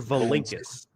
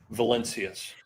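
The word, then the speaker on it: Valincius: Is the last name pronounced Valencius or Valinkis? Valencius.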